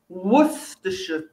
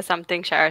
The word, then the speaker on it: Worcestershire: western england okay and it's called worcestershire worcestershire again yeah and um ivana you're not the only one who calls it the something shower sauce and i think there